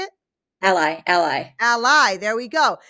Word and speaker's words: Ally: Ally, ally.